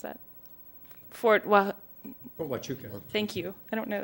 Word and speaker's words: Huachuca: Many of the interrogators lacked training, and those who had attended the Army's course on interrogation in Fort, how do I pronounce that? Fort Huachuca.